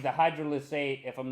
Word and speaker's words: hydrolysate: So you have 13 grams of isolate, 6 hydroslate, and 6 Maybe you can pronounce words. 6 grams of concentrate. Concentrate, isolate, and hydrolysate. Hydrolysate.